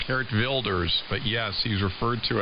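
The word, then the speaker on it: Geert Wilders: yes I it's spelled Gert Wilders where it's pronounced hert wers but yes he's referred to as the Dutch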